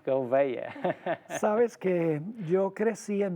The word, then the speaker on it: Gouveia: Yo no lo puedo pronunciar como es Gouveia. Gouveia.